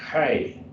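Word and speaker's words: ἡ: Hey, pronounce that hey. Hey, just kind of in the back of your throat, you do hey.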